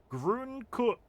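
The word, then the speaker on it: grün: But the u with the yumlau sounds more like a u not pronouncing with the w too much. Grun.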